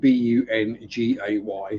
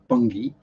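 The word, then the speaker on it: Bungay: Festival in Bungie spelled b-u-n-g-a-y so it's not pronounced bun gay bungee um and not like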